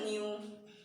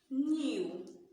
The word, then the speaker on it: knew: You will not sound the first letter. That means K is silent.